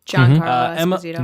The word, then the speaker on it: Giancarlo Esposito: Giancarlo Esposito.